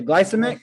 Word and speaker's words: glycemic: how do you say hero the glyce the glycemic is the glyce the glycine glycemic yeah so